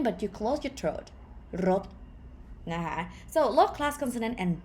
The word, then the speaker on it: รถ: But as these rot is a short vowel sound, it is high tone.